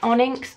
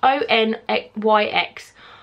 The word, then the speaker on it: Onyx: I can never pronounce that word. Onyx. O-N-Y-X.